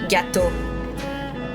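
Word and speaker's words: gâteau: How they say gato. Like that. The E A U does O same as only A U makes O.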